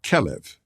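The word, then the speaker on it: כלב: homes filled with people the Hebrew word for dog is kelev as Hebrew has no vowels the word is actually spelled klv those three letters can also be pronounced as kalev which means like the heart I don't believe that's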